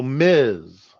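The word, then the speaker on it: Ms: married you have two honorifics for women so Miz was invented now they've got well it's not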